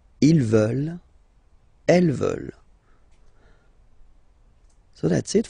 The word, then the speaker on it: veulent: And the last one, here, E-U, E, and then E-N-T, classic ending, but then you don't pronounce it, so you get veulent, veulent.